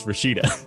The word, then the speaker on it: Rashida: Is that how it's pronounced? Yeah. Then her name is Rashida.